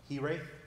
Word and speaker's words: Hiraeth: So it's actually a Welsh word, and it's pronounced Hiraeth.